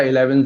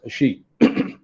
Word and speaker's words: Xi: तो news anchor ने बोल दिया 11 जिनपिंग। अब शी कौन पढ़ेगा ऐसे कि this is pronounced as शी, तो उसने बोल दिया शी जिनपिंग, तो इस वजह